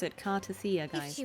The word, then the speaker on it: Cartethyia: This is how you pronounce it, Cartethyia, guys, If she not was indeed Cartethyia.